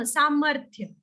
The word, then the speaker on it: सामर्थ्य: Samarthya. That Yeah, pronunciation yeah, is not going to change.